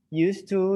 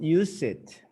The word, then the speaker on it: used to: the grammar please this is a grammar chart used to is always in past tense most of the time yeah and it's not pronounced use it and use it used used to i used